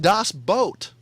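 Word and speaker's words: Das Boot: It's pronounced Das Boat.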